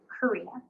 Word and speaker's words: Corina: people can click on to know how to pronounce my name, right? Corina.